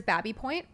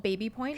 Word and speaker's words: Baby Point: Second one you've got here is Babby Point. Yeah. Often called Baby Point. Because it's spelled, it looks like Baby Point.